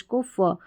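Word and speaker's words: cough: Next है सी। सी का उच्चारण क रहता है और सी को हम स भी पढ़ते हैं। लेकिन यहां पर हम सी को क पढ़ रहे हैं और ओ यू जी एच को फ। तो यह हो गया कफ।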